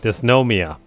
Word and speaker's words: Dysnomia: best pretty much I I always say it's name wrong it's DN dysnomia and so dysnomia for those of you that